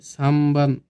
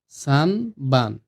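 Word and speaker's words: 三番: ৩ হচ্ছে সামবান। এইখানে লক্ষ্য করুন, সানবান, এটা সানবান হবে না, এটার উচ্চারণটা হবে সামবান। সামবান। কারণ ন আর ব যখন একসাথে হয়ে যায় তখন এটার উচ্চারণ হয় ম হিসাবে। ঠিক আছে?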